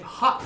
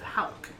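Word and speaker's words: Howk: Everybody pronounces my last name Hawk instead of Hauk. Because that's how it's said. No, it's not. I know. H-O-W-K. I'm Yeah, like, it's How with a K.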